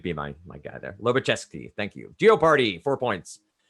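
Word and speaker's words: Lobachevsky: i knew you'd be my my guy there loba chesky thank you geoparty four points for nebraska it's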